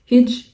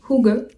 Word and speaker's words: hygge: Alors là, vous allez peut-être le prononcer Hidge, mais en fait ça se prononce Hygge.